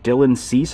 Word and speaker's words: Dylan Cease: And then right here I thought I'd point out about this NBA Pop, Dylan Cease, I believe it's pronounced, which it just so happens that if